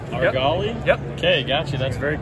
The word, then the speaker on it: Argali: absaroka i got you and the brand is our golly argali yep okay gotcha that's very cool so what's